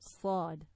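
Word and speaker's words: ص: For sad, sad. I hope you can hear this like clearly. And imagine sad. So the tongue is sort of behind the front incisors, the upper and lower. So you sort of close your teeth and sad, sad.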